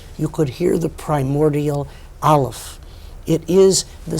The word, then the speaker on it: Aleph: It is not, as most people mistakenly think, a silent letter. It is, as Gershom Scholem, the master historian of Jewish mysticism, points out, the sound that the larynx makes as it clicks into gear.